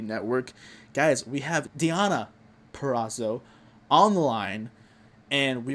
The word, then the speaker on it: Purrazzo: So first of all, I just want to ask, Deonna Purrazzo, is that how you say it? Yes. Perfect, because I know sometimes I think people mispronounce it and they go Purrazzo, or does that bother